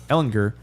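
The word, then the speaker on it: Ehlinger: Campbell now that Sam Ellinger is in there Ellinger I've been saying it wrong a bunch of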